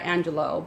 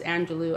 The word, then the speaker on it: Angelou: So Maya Angelou, I would say Maya Angelou, but it's Angelou, I suppose.